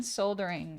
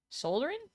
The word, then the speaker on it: soldering: You know, the eye is silent and soldering. Soldering. Soldering. You got to write the second time. Soldering. Oh, soldering. Okay, so it is soldering. There's no L.